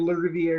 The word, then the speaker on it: LaRiviere: And LaRiviere is the right pronunciation.